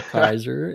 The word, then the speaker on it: Kayser: Kaiser as as it's pronounced.